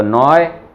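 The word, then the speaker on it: neu: जैसे फ्राग फ्राग माख, और ए ऊ आ जाए, उसको भी स्टार डाला हुआ है मैंने, उसको पढ़ेंगे ओए ओए। ओके, ये बहुत इंपॉर्टेंट है, ये बहुत अक्सर आदमी भूल जाता है थोड़े टाइम के बाद में, और फिर वो रॉन्ग पढ़ने लगता है। तो ओए, डॉइच में भी इवन ये चीज आ रही है, डॉइच ओए, तो नॉय ओयरोपा, इस तरह से ये है।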